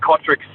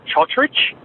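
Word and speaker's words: Cotric: friend of ours, and they did change pronunciation of his name to Chotrich. But, yeah, he's always said that he's never told him to pronounce it Chotrich. Apparently it's just to make them sound a little bit more multicultural and all that. So it's always been Kotrick.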